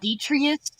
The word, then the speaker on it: detritus: garbage bag it's wasteful pronounce detrius detrius DET like Petri isn't that the name